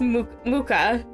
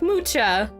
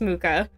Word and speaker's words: Mucha: Muka and yeah it is pronounced Muka it looks like mucha but I assure you it's pronounced mooka non-english name do not